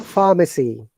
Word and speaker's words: pharmacy: Father, father, mother, father, brother, mother, sister, brother, sister, pharmacy. pharmacy, No R sound. In pharmacy. pharmacy, it should be. No R sound, remember.